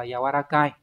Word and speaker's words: 柔らかい: Thì chúng ta sẽ có hai chữ Hán đọc là yawarakai.